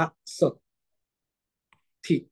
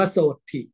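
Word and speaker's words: โสตฺถิ: พยัชนะ นะ ตัว ต้น ก็ เลย อ่าน ว่า สด ถิ นะ ครับ สดิ อย่า อ่าน ว่า โสตถิ นะ ครับ อ่า อัน นี้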